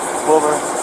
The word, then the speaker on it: Wilbur: Wilbur. Spell it slowly.